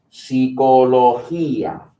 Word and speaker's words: psicología: How do you think this is pronounced? Is it Gia? How is this pronounced? Hia, right? Same three letters, same sound. Psicología.